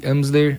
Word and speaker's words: Amsler: que é uma grade, chamada tela de Amsler, Amsler, A-M-S-L-E-R, tá? Amsler, se escreve, tá?